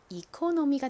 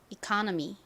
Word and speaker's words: economy: 그래서 읽어보면 이코노미가 되죠.